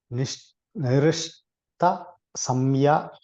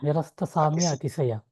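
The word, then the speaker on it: nirasta-sāmyātiśaya: The Lord is Nirishta Samya. Pronunciation is very bad. Atisaya. Nirasta samya atisaya.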